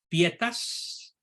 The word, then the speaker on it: pietas: El término latino pietas, así se pronuncia en latín, es muy rico en contenidos.